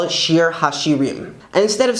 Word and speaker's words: שיר השירים: Canticles, or Song of Songs, is actually Shir Hashirim, Shir Hashirim, the Song of Songs.